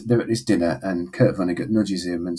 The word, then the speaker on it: Kurt Vonnegut: It was Kurt Vonnegut.